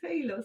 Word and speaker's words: halo: I was saying hello, and it was it's not hello, it's halo. I' I've actually learned that very recently.